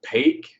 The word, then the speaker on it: opaque: black the more radial opaque or more dense so i don't know if this works for you but for me opaque rhymes with cake i used to think